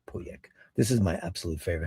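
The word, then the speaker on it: Pauillac: Puyak pyak. Poyak. That's the right way to say it. Not puyak. Poyak.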